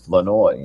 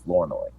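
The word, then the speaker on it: Flournoy: Ryan and we just found out this it's floi is how you pronounce it not floro so how about thatoi floi that's what it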